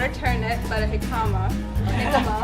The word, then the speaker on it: jicama: a turnip, but a jicama. We figured out the J was silent.